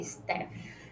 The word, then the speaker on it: staff: que é STF gente de repente vocês vão ver Staff mas a pronúncia correta é step tranquilo Stephanie Ok vamos